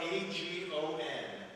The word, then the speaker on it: agon: word race is spelled A-G-O-N. Say that with me. A-G-O-N. That's a Greek word pronounced agon.